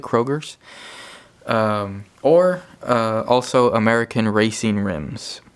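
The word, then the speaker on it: Cragar: That's how you pronounce it, Kroger's.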